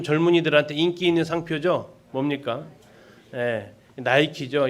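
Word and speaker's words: Nike: 나이키죠. 이 영어 발음이 아이자가 아이로 읽으면서 나이키가 됩니다. 근데 그냥 알파벳 이름대로 그대로 읽으면 뭐가 됩니까? 니케죠.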